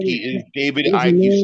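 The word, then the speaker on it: Icke: You So your name is not David Ike. His name is David Ike. What is wrong with you? E is silent, man.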